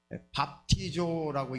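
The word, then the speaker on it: βαπτίζω: 자, 저게 밥티조라고 읽습니다. 밥티조 한번 따라서 보겠습니다.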